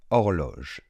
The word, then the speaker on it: horloge: Donc ce mot se prononce ainsi. Une horloge. Une horloge. Quelles sont les difficultés dans ce mot et pourquoi j'ai choisi ce premier mot? La première chose, c'est le H du début.